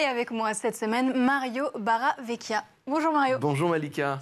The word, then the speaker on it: Barravecchia: moi cette semaine Mario baraveekia bonjour Mario bonjour Malica cette fois-ci c'était correct la prononciation du nom de famille tu es chanteur